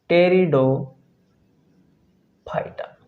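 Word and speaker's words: Pteridophyta: टेरिडोफाइटा। साथ ही से pronounce किया जाता है टी से, लेकिन जब लिखा जाता है तो पी से लिखा जाता है।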